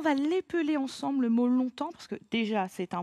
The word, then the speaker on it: longtemps: Le S, je ne l'entends pas. Là, on va l'épeler ensemble le mot longtemps, parce que déjà, c'est